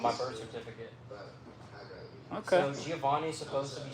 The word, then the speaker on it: Giovani: Realistically, my name should be pronounced Gio Vani cuz it's like Van instead of Van.